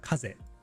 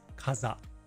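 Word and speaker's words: 風: Okay, so we have the kuyomi, the Japanese reading. Of course, there's kaze, wind. And it can also be sometimes pronounced kaza. And onyomi, the Chinese reading, you have fu or fu, long or short. So I'll just tell you right now. So kaze is obviously the main reading.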